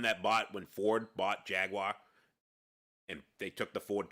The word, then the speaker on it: Jaguar: It is not pronounced Jaguar. It's fucking Jaguar.